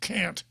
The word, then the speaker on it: Kant: and the categorical imperative it's of emmanuel people pronounce it kant i don't i pronounce it emmanuel can't and is categorical imperative and i'll paraphrase it